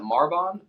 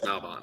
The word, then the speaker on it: Malbon: do you say it is it marbon malbon malbon I is there an r in there I don't know I no it's malbon it's malbon malbon okay I especially his